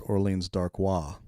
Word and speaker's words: Orleans Darkwa: I think the actual pronunciation is Orleans Darkwa.